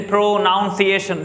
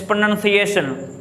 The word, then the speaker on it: pronunciation: Mostly people say pronunciation. They're not a pronunciation. Never yet. It's pronunciation. Pronunciation.